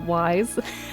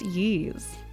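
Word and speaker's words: Ys: game Wise, but it's Ye. It's Ye. Like the Y is pronounced E like Ye.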